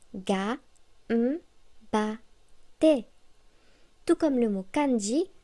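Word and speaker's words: がんばって: Par exemple, le mot gambatte se prononce ga, ba, te.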